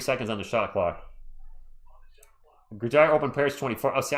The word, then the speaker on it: Gojira: Because Gojira is actually how it's pronounced in Japan.